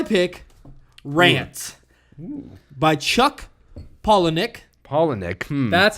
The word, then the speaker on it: Palahniuk: Palahniuk.